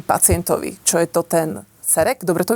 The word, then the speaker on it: CEREC: Tak ako by ste vysvetlili pacientovi, čo je to ten cerek? Dobre to vyslovujem? Cerek?